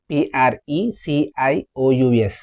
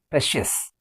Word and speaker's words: precious: For example, PRECIOUS. How do you say this word? It's precious.